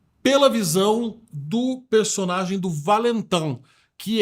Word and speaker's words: Valentin: Tem gente que fala Valentin, a pronúncia francesa é Valentin.